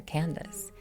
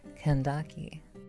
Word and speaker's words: Candace: Well, it's fine if you want to modernize this and call her Candace. Using classical Latin pronunciation, this name is pronounced Kandaki.